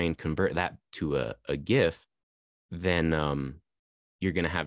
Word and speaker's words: GIF: So that's the GIF file. Quick note on the GIF file. The G in GIF or GIF does technically stand for graphics or graphical. So the correct pronunciation is technically GIF, but you'll hear me